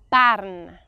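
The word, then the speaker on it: Bern: have a Zurich dialect people from Burn would kill me if I wanted you to say bam so real bam people say Barn okay try it bam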